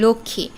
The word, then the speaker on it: লক্ষ্মী: কি চতুর্থ শব্দ ছিল লক্ষ্মী লক্ষী শব্দটি ম ফলের উচ্চারণ কেমন হয়েছে এখানে কিন্তু ম এর উচ্চারণও হয়নি আবার উচ্চারণ দৃত্ত ঘটেনি